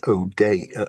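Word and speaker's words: O'Dea: Um, but, uh, Malcomson and O'Day, O'D, that's the way you pronounce it, in 1863.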